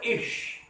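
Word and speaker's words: ich: ইশ শব্দটার মানে হচ্ছে আমি, শব্দটা হচ্ছে রস্যি হ তালিবা স, অর্থাৎ উচ্চারণ হবে ইশ।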